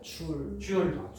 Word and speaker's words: 줄: 줄. 줄이라고 읽으면 돼요.